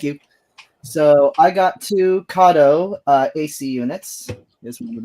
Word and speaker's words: Kato: They are Kato or Kato, depending on your pronunciation. I prefer Kato. It's more authentic, I think.